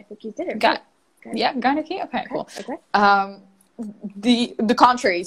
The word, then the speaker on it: gynarchy: because I believe in what is it called, gynarchy. How do I pronounce this correctly? I think you did it. Yeah, gynarchy.